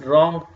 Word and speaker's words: wrong: god gasps gano and when w and are come together keep in your mind you're not going to pronounce w we say write rest wrong rec rec et Cie hope